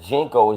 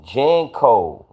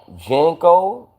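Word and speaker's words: JNCO: Yo, you saying it wrong. I don't think it's Jeno, it's Jenko. Remember J A N C O Jenko?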